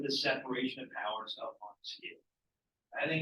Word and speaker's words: Montesquieu: All right, Montesquieu, I know it's a longer name, but you can break it down into syllables to understand his name. Montesquieu, right? 3 syllables, 3 branches of government.